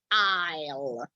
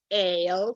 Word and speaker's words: aisle: is one of the most frequently mistaken as pronunciation, just because it's got this S together, but is aisle sit.